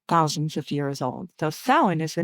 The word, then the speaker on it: Samhain: And if you read it, a lot of people like Sam Hayne is how you just like and it's pronounced thin. S O W I N. It's Celtic. It's thousands of years old. So sin is the name of it.